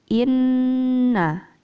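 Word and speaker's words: إنا: Selanjutnya yaitu lafaz inna. Inna tadi harusnya panjangnya satu alif. Inna minal mujrimina muntaqimun. Inna. Nah, tadi dibaca pendek.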